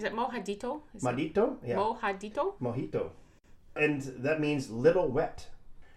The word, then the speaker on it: mojito: Mojito. And that means little wet. See, I am terrible when it comes to pronouncing anything that's close to Spanish in any shape or form.